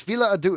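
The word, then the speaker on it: Folie à Deux: It's Fila Adu. It's like French, but I think it's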